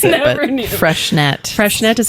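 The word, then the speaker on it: Freixenet: sparkling wine champagne I always thought that was pronounced like fnet I could never pronounce it freshnet freshnet is how you say it so if you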